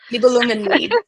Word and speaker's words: Nibelungenlied: The Germanic one, the Germanic tradition, the Nibelungliad, Yes, Nibelungliad. I can yeah, never the pronounce that one. Nibelungenlied.